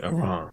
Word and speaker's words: Iran: Iran. Iran? You don't say it like I. You say Iran.